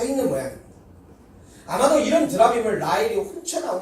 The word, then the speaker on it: 드라빔: 그런 와중에도 야곱이 그렇게 사랑하던 라헬은 자기 친정 아버지인 이 라반이 자기 목숨만큼이나 중요하게 생각했었던 드라빔, 영어 발음으로는 테라핌입니다.